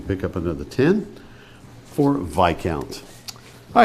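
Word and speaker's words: viscount: points now for ten vi count a noble rank below an earl and above a baron its third letter is silent vi all count v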